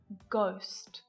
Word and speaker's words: ghost: The letter H can be silent too, and in a few different ways. Sometimes it's not pronounced at the start of words, like honest, honor, and hour, and it can also be silent if it comes after a C, G, or R, like in choir, echo, ghost, rhythm.